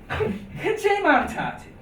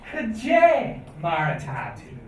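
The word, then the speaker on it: Cad é mar atá tú: And in Chearhanal, or Ulster Irish, we would say, Kajay Maratati. Kajay Maratati. So that D and E kind of go together, because remember the D is a J sound. So, Kajay Maratati.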